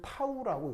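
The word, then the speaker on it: tau: 자 어떻게 쓰냐면 뒤에 요 꼬랑지 붙은 게 요렇게 표현을 해주는데 읽을 때는 타우라고 읽습니다.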